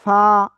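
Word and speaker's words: ف: এই অক্ষরটার নাম হলো ফা। নিচের ঠোটের পেট উপরে দুই দাঁতের আগার সাথে লাগিয়ে নরম করে হালকা বাতাস বের করে এ অক্ষরটা উচ্চারণ করতে হবে।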